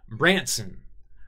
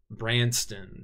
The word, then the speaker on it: Branson: Branson. I used to always accidentally pronounce this Branston back in the day, but, you know, I guess that's just the dyslexic side of me.